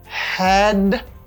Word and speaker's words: headache: C'est pas headache, non papa. C'est headache. Ouais, ça, le prononcer comme ache.